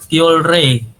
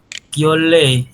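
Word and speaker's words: 켤레: Kyole. Nah, kyole bukan kyolre ya. Ingat-ingat ada real di akhir, ketemu real di atas, maka keduanya berbunyi L, kyole, seperti itu.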